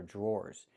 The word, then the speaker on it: drawer: Pronunciation, the dr makes a j sound like in juice and jump. Plus the r, j j j. Then we have the or sound like more indoor. drawer drawer These are drawers.